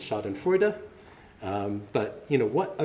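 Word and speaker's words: Schadenfreude: this uh I always thought it was uh pronounced shade and Freud um but that's not correct it's shod and frea um but you know what what a great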